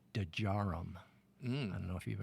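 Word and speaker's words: Djarum: of India uh called dejaram I don't know if you've ever heard of d-j-a-r-u-m dejaro the day is not silent neither is the J the Jason you got to pronounce it but uh we went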